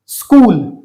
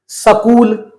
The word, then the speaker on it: स्कूल: और इसी कारण ये शब्द हम बोलते हैं स्कूल। जबकि अगर ये स पूरा होता तो हम क्या बोलते? सकूल, जो कि गलत शब्द होता।